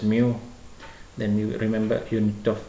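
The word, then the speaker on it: μ: Okay, this is uh some people pronounce it as mi moo. Some people mu for physics I think we pronounce it as mu.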